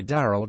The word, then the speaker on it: Darryl: New York Times Jesse Darryl rowdy he pronounces the middle name as one syllable like Carl grew up in a